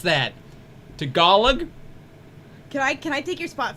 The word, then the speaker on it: Tagalog: And number 6, Tagalog. Oh, I know I pronounced that wrong. It's not Tagalog. I know that. It's Tagalog, I think.